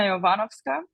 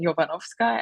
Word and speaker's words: Jovanovska: name is Christina yovanovska if you live in Austria you pretty quickly get uh used to your surname being pronounced different which is in my case then jovanovska and I even myself say it this way it's easier if you